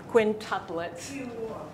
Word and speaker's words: quintuplets: to do with five quintuplets yeah this is pronounced as if it's W quintuplets qu usually makes